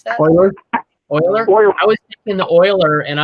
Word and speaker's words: Euler: And then you can either pay attention to the Euler version of the output, which is easier to use in a lot of circumstances, but has that has that problem.